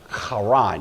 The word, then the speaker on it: Haran: heron it's usually pronounced kharan you have to kind of growl the h there this was a a